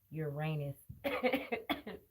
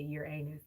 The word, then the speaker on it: Uranus: It just came to me, the water barrier, Aquarius, and the planet Uranus. Because I usually would say Uranus, but it's Uranus. Okay, but it can be pronounced either way.